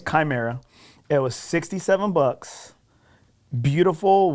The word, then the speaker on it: Chimera: course called Chimera or I see it's spelled like Chimera but okay it's Chimera it was 67 bucks